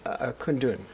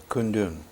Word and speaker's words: Kundun: Kundun. How do you pronounce it correctly? Kundun. Kundun.